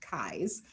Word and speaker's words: Keyes: On May 26th, just 8 days after Aimee's disappearance, Los Angeles District Attorney Asa Keyes, I always want to pronounce his name differently because it's spelled Keyes, but it's pronounced Keyes, announced to the press,